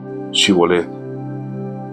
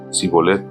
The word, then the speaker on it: Shibolet: Si decía el hombre: no, no lo soy, ellos le pedían que pronunciara la palabra Shibolet. Si era de Efraín, diría Sibolet, porque a la gente de Efraín le cuesta pronunciar bien esa palabra.